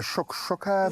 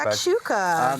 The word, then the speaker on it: shakshuka: It's kind of like a shuk-shuka Yes, vibes. Hey, exactly. I probably butchered the way I said that. The shakshuka.